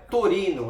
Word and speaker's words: Torino: Olha, Torino é como se fala em italiano, é Torino, só que o equivalente no português seria Torin, então seria a fábrica de Torim na Itália.